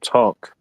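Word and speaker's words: Tunk: It's a card game called Tonk. It's It's spelled T U N K.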